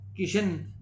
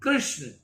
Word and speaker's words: कृष्ण: कुछ परिश्रम होता है कितने ही लोग कृष किशन कहते हैं यह ठीक है परंतु व्याकरण प्रमाण से इनका उच्चारण कृष्ण होता है कृष्ण नहीं राम जी